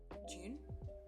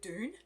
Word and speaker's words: Dune: his new film dune june june june june i guess it depends where you're from i'm from australia so i'm gonna say june i'm not sure if americans are pronouncing it dune anyway yeah so yes